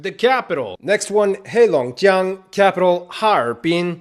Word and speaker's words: Harbin: Next one capital Harpin. It's actually three syllables. Ha bin. It looks like it's two. Harbin, but it's anyway.